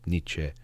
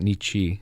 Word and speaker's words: Nietzsche: different every time with Niche because I've heard of Nich. Definitely not Nichi. I I I learned that that you're not supposed to say it that way.